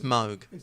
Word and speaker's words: Moog: We were talking about that earlier that how you pronounce Moog. Yeah, which really is Moog.